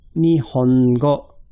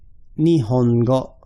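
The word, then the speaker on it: 日本語: So, although hon, so this hon here is a single character, a single kanji, it's actually two sort of syllables long. So it's more like nihongo. Nihongo. So it must be nihongo, nihongo, nihongo.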